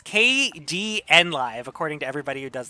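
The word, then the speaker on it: Kdenlive: e um no no it's I I was pronouncing it Kaden live but it's based on the uh Linux uh software package KD e so it's kdn live according to everybody who does the tutorials for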